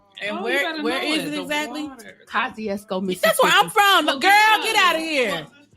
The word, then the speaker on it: Kosciuszko: You gotta know you from Kosciuszko because you know how to say it.